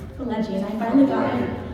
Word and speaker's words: Pileggi: gentlemen, a big round of applause for Mitch Pileggi! Thank you. This is quite loud. It's nice and loud. Welcome, Mitch. We were just backstage and you were helping me pronounce your last name. Yeah, Pileggi. Pileggi, and I finally got it after I wrote